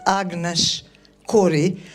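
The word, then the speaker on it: Agnes Kory: So um yes um my name is Agnes Corey which sounds suspiciously like Corey and some and sometimes I do get letters spelled like that but no K O R Y like Steven Cop I'm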